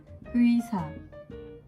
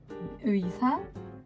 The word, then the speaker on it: 의사: Donc je vais donner quelques exemples de mots, comme par exemple 의사. 의사, qui veut dire médecin. 의사, 의사. 의자, chaise. 의사, 의자. Donc vraiment retenir que le EI, C'est vraiment le mélange de EI.